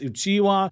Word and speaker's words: Uchiha: At number 14, did you know that Itachi's name means weasel and that the Uchiha name can be pronounced as Uchiwa, which is Japanese for the paper fan, which is the symbol of the Uchiha clan's crest.